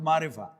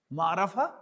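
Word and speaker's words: معرفة: Ma, not Marifa. Marafa and not Nakra. This is Marafaton to pronounce as Marafa.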